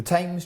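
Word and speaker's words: Thame: The Tames Championship then, Matt. Tames Championship. Not the TS tames. The Tames Championship.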